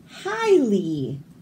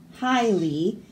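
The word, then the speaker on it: jai alai: J is for highly. Juanita and Bjorn happily played highly before eating fajitas in Juarez. So the J is silent.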